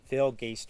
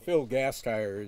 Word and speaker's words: Gasteyer: The mayor from the village of Corrales, Phil Gaster. Did I get it right? Not quite. Phil Gasteyer is the way we pronounce it.